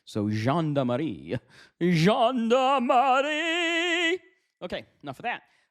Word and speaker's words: Gendarmerie: It is a French word, means police or army. So Gendarmerie.